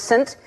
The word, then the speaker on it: Saint: We were sending all these names, and she sent St. Vincent, but it's pronounced Saint, and I knew you were going to see Saint and go, do you remember that?